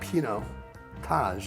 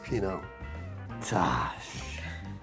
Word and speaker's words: Pinotage: And it's a Pinotage. And remember, it's not Pinot Taj, it's Pinot Taj.